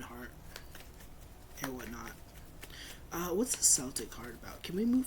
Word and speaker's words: Celtic: I think you're supposed to say Celtic with like a hard C.